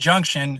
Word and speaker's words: JNCTN: So, it's called it's pronounced Junction.